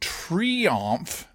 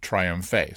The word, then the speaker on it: Triomphe: back quoting her then you need to say duh not day and Triomphe not triumph ace so croissant de Triomphe